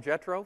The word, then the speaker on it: Jetro: I'm calling them Jetro for no other reason than it rhymes with Metro.